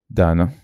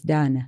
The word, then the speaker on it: Daneh: Dana, thank you. Am I pronouncing it right? Yes, Dana.